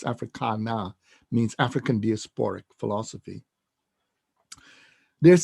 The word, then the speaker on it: Africana: And by the way, excuse me, when I'm addressing South African audiences, it's spelled Africana. It's not Afrikaner, it's Africana, means African diasporic philosophy.